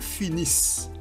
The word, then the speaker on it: finissent: finissons vous finissez ils finissent on ne dit pas il finissant on dit il finissent et NT ne se prononce pas ok on ne dit